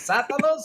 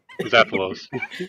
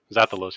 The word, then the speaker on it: Zappalos: Is it Satalos or Satalos? How is it? I'm trying to pronounce this right. Zappalos. Satalos! Welcome to the Xbox International Podcast and for joining us on this awesome episode. How you doing, sir? Hello. Thanks for having me. I'm doing good. Zappalos, yep. That's me.